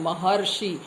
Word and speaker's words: महर्षि: जैसे महर्षि, हम लोग बोलते हैं महर्षि, तो मह ह के बाद अर ध्वनि सुनाई देती है।